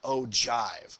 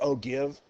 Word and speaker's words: ogive: people are gonna go ahead and call them oh jive that's how you pronounce this it looks like oh give you know like what you guys say Oh